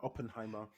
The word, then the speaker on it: Oppenheimer: me on oppenheimer am i saying it right oppenheimer yeah you scored me and who it was